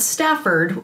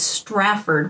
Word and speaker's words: Strafford: Not Stafford, as people mispronounce it all the time, but he has to constantly remind him that it's Strafford with an R, not Stafford.